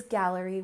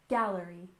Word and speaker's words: gallery: Art and next is Gallery with stress on the first syllable gallery gallery and this is usually